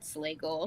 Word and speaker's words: Slagle: And I was like, "It's like bagel, but Slagle." But So that's Slagle. that's how you pronounce it.